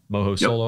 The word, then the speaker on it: MohoSolo: MohoSolo. Yep. I was 100% worried that I have been pronouncing it incorrectly this whole time.